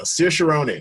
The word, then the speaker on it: Saoirse Ronan: Saoirse Ronan. There we go. Saoirse Ronan.